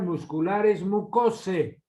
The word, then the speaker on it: muscularis mucosae: se dice en latín, terminación AE se pronuncia como E, se debe pronunciar muscularis mucosae y se escribe mucosae, ¿no?